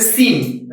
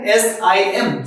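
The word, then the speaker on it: SIM: तो क्या बन गया एस आई एम सेम अब गौर करेंगे सिम अगर ये इनिशियलिज्म के तौर पे इसको प्रोनाउंस करते तो क्या पढ़ते एस आईएम लेकिन हम क्या बोलते हैं सिम तो इसका मतलब क्या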